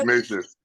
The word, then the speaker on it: Ignatius: Ignatius.